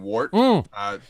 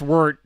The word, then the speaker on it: wort: off the bat use code promo code 2021 wart i say wart because i'm copying you here yeah i know it's pronounced word but we say wart because the average person